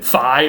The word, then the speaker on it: phi: As you may know, Greeks would later have a sound f, written phi or phi, P-H-I, but that was a sound change that